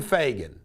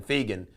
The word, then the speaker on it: Fagan: He wanted to ask if Glenn Fagan, he mispronounced his name too, he called him Glenn Fegan, whether he practices law in Cincinnati.